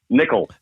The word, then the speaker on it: Nikkel: on into it brother Nichol the way it should have been pronounce you bet there you